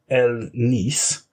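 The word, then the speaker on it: Hellé Nice: She's called, I think it's pronounced El Nice, but I'm going to call her Helen Ice. It's spelled H-E-L-L-E space N-I-C-E. And she's French. So like I say, I assume that's something like El Nice.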